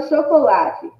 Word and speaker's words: chocolate: Olha a palavra chocolate. Chocolate. Olá, lá. Foi mais forte, foi mais intenso. Então, o lá é a penúltima sílaba da palavra. Se é a penúltima sílaba da palavra, então significa que essa palavra é paroxítona, porque a penúltima sílaba é a sílaba tônica.